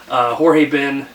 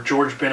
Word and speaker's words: Jorge Ben: exactly what this was jorge ben or George Ben I have no idea again for giving up both pronunciations but i believe jorge ben Africa Brazil so like